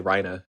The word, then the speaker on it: Reiner: dub, even though it's very much spelled Reiner. Yeah. Which I found that interesting as well. Rhina. So that's interesting that that carryovers into the English dub, but they still say Rhina despite it being very like, I don't know, Like that's what the word looks like, Reiner.